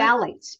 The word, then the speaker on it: phthalates: Phthalates. It's spelled PHTHALATES, phthalates, and they're everywhere.